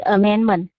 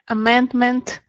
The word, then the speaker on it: amendment: pay attention to these amendment. Yeah. Okay, good. Very nice. Thank you. Just when you say moment, amendment, try to pronounce the last sound. Yeah. T. So, amendment.